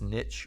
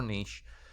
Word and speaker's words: niche: occupies a different niche you can pretend pronounce this niche or niche which means they have